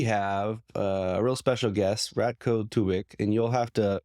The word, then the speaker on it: Ratko Tubic: everybody, today we have a real special guest, Ratko Tubic, and you'll have to correct me if am I saying that right? Am I pronouncing your name correctly? Yeah, I mean, I'm used to it. It's Ratko Tubic in my language, but Tubic, I'm used to